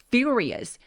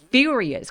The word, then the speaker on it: furious: 그래서 his mother is furious furious 강세 빡세게 주세요 furious and throws the beans